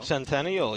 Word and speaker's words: Centennial: I remember seeing a great show, Grease, at Sentinel High School, though. Centennial, yeah. I said it wrong.